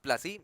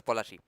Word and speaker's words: Palashi: the field of plci it's not actually pronounced placy in in Bengali it's POI okay so I will just pronounce it as polachi this is a British